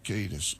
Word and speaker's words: Kiedis: With my guest, Anthony Kiedis. Am I saying it right? Kiedis? You said it better than Michigan, yeah. Kiedis. Yeah, Kiedis is correct.